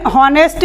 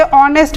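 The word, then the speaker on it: honest: next9news से शुरू है यहां ऐड साइलेंट हो जाता है हम इसे हार्मोनल होनेस्ट नहीं पड़ते हम इसे ऑनेस्ट पड़ते हैं और नेक्स्ट इस वंश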